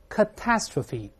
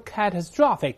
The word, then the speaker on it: catastrophe: 大灾难，注意重音往前移了，大声来呗 catastrophe catastrophe，本文中 catastrophic 就是我们